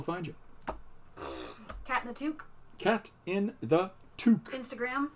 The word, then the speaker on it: toque: It's a toque. In Canada, we read that as cat in the toque, eh? My favorite pronunciation I've ever seen of toque by an American is Tocque. Tocque?